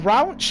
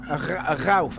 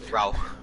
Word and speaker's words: Rauch: here now going towards is that rauch how how did you how did you pronounce that then there rascal uh it's pronounced ralph and he's half a second down so i don't think he's going to improve so piper's going to be on the pitch if you don't understand it's ralph ralph i could do